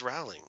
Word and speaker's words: Rowling: It's Rowling, yeah. Yeah, they continue to use her introduction all the time, and she says, "My name is J.K. Rowling," and so it's ingrained in my head how it's pronounced.